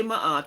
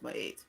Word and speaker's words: Ma'at: Libra is my eight people will say my art but it's really supposed to be pronounced by eight this is where you